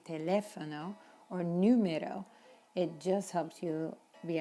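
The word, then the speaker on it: número: number in spanish it's important to emphasize that sound numero not numeros numeros same with telephone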